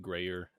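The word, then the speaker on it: Gruyère: Well, in case anyone was wondering how to say that, that is how you say it: Grayer egg bites. Yeah, it's Don't let the anyone tell you proper otherwise. French pronunciation.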